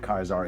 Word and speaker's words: Caesar: Sorry, you guys might hear me go back and forth between Kaizar and Caesar. Like I say Caesar the the show always pronounced that Kaisar is is starting to take root.